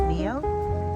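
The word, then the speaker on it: Ngaio: I thought this might be bay leaf, but when I looked it up, I think it's pronounced Neo. It has a G after the N, and it's from New Zealand.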